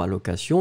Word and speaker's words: allocation: Allocation, on l'écrit A-L-L-O-C-A-T-I-O-N, donc pas de problème, c'était effectivement le A. Je vais prononcer les deux pour que ce soit bien bien clair.